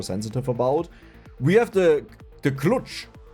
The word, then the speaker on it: klucz: We have the klucz. Klutzi. How do you pronounce Polish, actually?